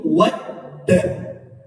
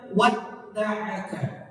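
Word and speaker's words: wadda'aka: huruf Dal yang musyadadah huruf Dal yang yang berharakat tasydid dibacanya itu wadda wadda add kalau kita panjangin add wad wad Jangan dibaca Ma waddaaka wad daaka itu salah itu salah Jadi bukan wad daaka Sekali lagi bukan wad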